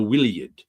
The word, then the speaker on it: Iliad: opened this with was the Iliad wouldn't be pronounced the Iliad in ancient Greek. It would be more like the willid because the letter I wasn't in Greek yet.